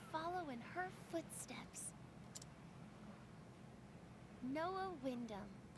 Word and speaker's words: Wyndham: Noah Wyndham. So you don't pronounce the H.